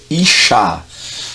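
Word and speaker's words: אשה: então nós temos aqui você vai ver i s h a gente a pronúncia é inchar tá quem diga Ixi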